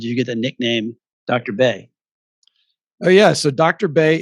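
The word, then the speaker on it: Bae: Bay, but we spell it B-A-E instead of B-A-Y, just to sound a little more hip for the millennials and the Gen Zers.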